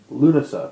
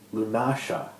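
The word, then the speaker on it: Lughnasadh: time to pronounce it lunasa because they would pronounce it lunasa with the SH sound and the stress on a different syllable and so I mean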